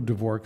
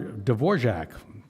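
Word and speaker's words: Dvořák: listening to some beautiful D'vor to a beautiful D'vorc symphony. D'vor D'vorjac. I can do certain things good pronunciation.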